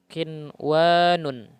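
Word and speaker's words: قِنْوَانٌ: Nah sebagai contoh Nah yang satu kata ini qinwanun ya lain onun tidak boleh dibaca heuh W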